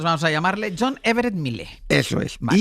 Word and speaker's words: Millais: Se escribe Millais, el nombre del autor de Ofelia, de este cuadro. Lo podemos decir Millais, bueno, más o menos. Vale. Nosotros vamos a llamarle John Everett Millais.